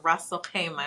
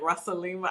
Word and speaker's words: Ras Al-Khaimah: I think I was saying like Rasalima.